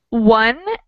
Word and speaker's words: one: The letter O in the word one is pronounced like wa, wa, and in anemone is pronounced like nemon, nemon, nemon.